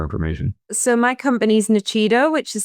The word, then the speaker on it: Nuchido: So, my company is Nachido, which is spelled N U C H I D O.